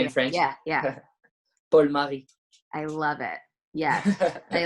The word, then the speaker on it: Marie: your own name, and you don't really pronounce it Marie, do you? You say it's more like Mary, isn't it?